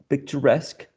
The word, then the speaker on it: picturesque: So payee, employee, journalese, cigarette, and picturesque are interesting cases in which the stress shifts to a different syllable. But in this case, the stress syllable is the one which is the suffix, right?